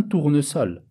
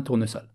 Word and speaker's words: tournesol: Un parasol, un tournesol. Ici, malgré qu'on a le S au milieu des deux voyelles, eh bien, on le prononce quand même un S, comme un S.